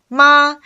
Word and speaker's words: 妈: As you can see, if you pronounce the first tone, ma, it means mother.